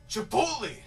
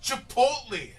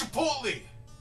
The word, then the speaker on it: Chipotle: still say chipot no it's Chipotle chipot no it's Chipotle okay I don't care if you say Chipotle maybe that's correct I I don't know I know it as Chipotle I'm sure Chipotle is acceptable but not chipot hey not Chipotle it's